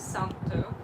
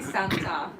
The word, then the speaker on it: Santo: Yeah, his name's Santo. So Santo. It's very Finnish, Santo. Santo, go Santo, go Some people say Santa, like Santa Claus or...